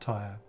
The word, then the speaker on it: Tier: me what tier was tell me what tier was like tire it's pronounced tire and oh you should see